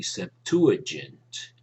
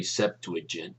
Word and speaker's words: Septuagint: especially and exactly in the Greek translation, the Septuagint. That's how you pronounce it. I tend to say Septuagint, but the 70, whatever.